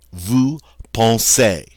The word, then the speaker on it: vous pensez: Now, EZ, when it's at the end of a verb form like this, is going to be pronounced A. So we say vous pensez.